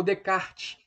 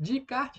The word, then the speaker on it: Descartes: René Descartes né ou de kart Ned Eu já ouvi dizer que esse essa ele não é pronunciado então ficaria redecard que seria né o racionalismo